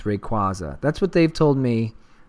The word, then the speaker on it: Rayquaza: My children also tell me that I say Rayquaza is not the proper way to pronounce it. It's Rayquaza.